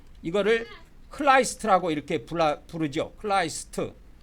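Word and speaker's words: Christ: 크라이스라 이렇게 불라 부르죠 크라이스트 크리스트 또는 크라이스트 이렇게 발음을 합니다 영어에서는 그게 우리나라 성경에는 그리스도로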